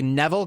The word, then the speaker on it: Neville: No one's on the level of, I'm going to say Neville because it rhymes with level, even though if I just saw this word by itself, I probably wouldn't pronounce it that way.